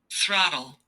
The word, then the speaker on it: throttle: important in aviation too throttle throttle your tongue is important here between your teeth throttle throttle throttle throttle